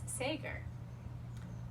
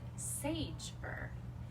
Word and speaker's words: Sager: also love it because my last name is sager and many people pronounce it sage fur and very often i